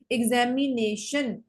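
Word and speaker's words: examination: ऊपर ज्यादा पड़ा है एग्जामिनेशन एग्जामिनेशन नेशन ज्यादा फोर्सफुली प्रोनाउंस किया जाता है एग्जामिनेशन बोल के देखो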